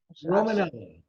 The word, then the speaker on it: Romanella: Am I pronouncing that right? Okay. Romanella.